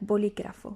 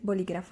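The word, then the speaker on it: bolígrafo: on the word like boligrafo you don't say boligraffo like fast no you say like you put a little bit of emphasis on the letter that has uh like an accent for for you for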